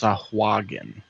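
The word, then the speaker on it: sahuagin: says according to Forgotten Realms Wiki it is pronounced sahuagen all right so again it is uh so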